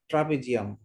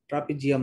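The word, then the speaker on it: trapezium: আর্জেন্টিনার ক্ষেত্রে জ উচ্চারণ হবে বর্গীয় জ, কিন্তু যখন ব্রাজিল উচ্চারণ করবেন, ট্রাপিজিয়াম উচ্চারণ করবেন, তখন উচ্চারণটা হবে জি, জ, জেড এর মতো।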